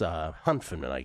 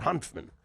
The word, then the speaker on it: Hanfmann: Hanfmann is plus Hanfmann, I believe is how you pronounce it. Hanfmann.